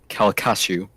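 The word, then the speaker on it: Calcasieu: just don't also isaac i believe the pronunciation is uh calacashu that's about right yeah our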